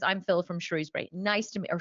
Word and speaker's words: Shrewsbury: Phil, and he says, I'm Phil from Shrewsbury. Nice to meet, or Shrewsbury, I think it's pronounced in the UK, even though it's spelled Shrewsbury.